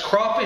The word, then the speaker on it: crappie: here's this crappie bass crappie is the way the southerners pronounce it I pronounce it crappy doesn't matter use any